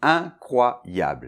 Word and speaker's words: incroyable: Alors attention, on va décomposer le mot, donc première syllabe c’est le IN , la nasale . Un peu comme , mais ça vibre plus dans le nez, ici , suivi de CROY , comme je crois, CROY .